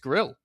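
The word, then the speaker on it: Grlj: Nah, the guy without a vowel in his last name, it's just Grill. That's it. It's just Grill. That's how you say it, apparently.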